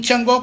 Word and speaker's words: Changó: King Chango con acento en la O.